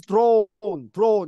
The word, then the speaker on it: drawn: 자, 오 발음을 좀 이러면 할 수 있어야 되는데 약간 좀 뭐라고 입을 벌린 상태에서 그냥 다무리지 마시고요. 어인데 아가 약간 들어간다 그랬습니다. 그래서 이렇게 하고요. 아인데 오로 발음합니다. drawn. 들어. 예, drawn 이런 뜻이에요. 그래서 drawn 하면 안 되고요. drawn. 그래서 약간 아 사운드가 섞였다고 생각하시면 돼요. 그래서 drawn 이렇게 입을 벌린 상태에서 발음하시면 돼요.